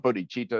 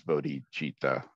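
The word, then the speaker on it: bodhicitta: with todichita I've heard people say It's Not Buddy cheetah it's because it's not it's not some cat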